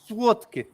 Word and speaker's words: słodkie: If you spell słodkie in Polish, because it's the same word in Polish, słodkie, in Polish it's spelled with the L with the slash through it, which is the w sound, but that's just sweet.